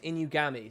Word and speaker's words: Inugami: Oh, it's Inugami. Sorry. Inugami. There you go. Sorry. You can hear a pitch change.